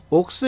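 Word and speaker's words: Oaks: 커 스 라는 계 정확하게 하며 녹스 줘 옥스 인데 이걸 왜 자꾸 호크스 라고 부르 냐 면 이 옥소 에 일본식 발음이 줘 그러니까 아직까지 그 때 일본에서 쓰던 그 발음 용어들이 그대로 남아 있었어 아직까지 5코스 오크스 그러는데 사실은 비슷한거 너희 옥스 가 비슷하죠 이거는 좀 바꿀 필요가 있지 않나 생각을 합니다 어 이번에 출전하는 맛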